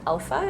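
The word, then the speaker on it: Elpha: do your research right i would also recommend looking at alpha it's spelled e-l-p-h-a it's a women's community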